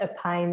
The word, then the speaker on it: EPION: epon m d uh we call it a pine MD a p okay e p i o n MD yes a pine okay so what is